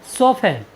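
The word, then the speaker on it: soften: एफ टी ई एन सफन सफन means होता है कोमल बनाना साथियों यहां पर आप देखते हैं कि टी से पहले एफ आया है इसलिए हमने टी का उच्चारण नहीं किया है साथियों चलते हैं अपनी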